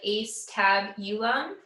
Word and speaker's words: Acetabulum: But the Acetabulum, so it's spelled like Acetabulum.